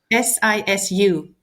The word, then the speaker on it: sisu: Um, SI is it SIS SI or SISU?